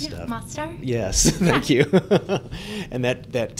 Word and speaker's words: Mostar: I'm going to mispronounce stuff. Mostar?